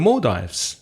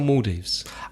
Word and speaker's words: Maldives: up living in the more dives is it more dives or Maldives I've heard both pronunciations actually mm-hmm let's say more dives because it reminds me of diving more dives end-to-end up